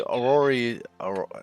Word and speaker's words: orrery: Although the orrery is that one.